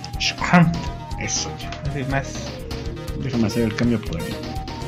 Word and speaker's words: Schrempf: Schrempf. Pero es alemán. ¿Cómo se pronuncia? Schrempf.